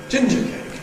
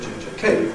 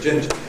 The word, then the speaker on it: ginger cake: Because we say ginger cake, for example. Although it's a cake made out of ginger, we don't call it ginger cake, we call it ginger cake.